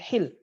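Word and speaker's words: حِلّ: hil wal hurmah ya dibacanya haknya bil kasrah al hil itu halal kalau al hal itu melepaskan halul ikdi ya melepaskan ikatan kalau pakai haknya bil fathih di sini min haitsul hil itu halal wal hurmah dan haram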